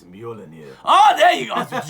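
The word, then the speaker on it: Mjölnir: So, how do you pronounce the name of Thor's hammer? I think it's Mjolnir.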